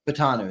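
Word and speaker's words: Fautanu: Troy fu is that is that right uh fatano fatano that's right I always pronounce his name wrong but if he fell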